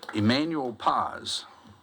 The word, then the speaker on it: Emanuel Paz: EMANUEL PAZ. DID I SAY THAT RIGHT? YEAH, YOU SAID IT RIGHT.